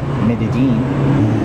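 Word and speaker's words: Medellín: to talk about well the first thing you should know about coming to medigee a local is pronounced Medellin so this is our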